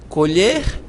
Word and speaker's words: colher: Veja, colher, colher. Todas as duas, ambas, são oxítonas. Você não diz colher, nem colher. Você diz colher, colher.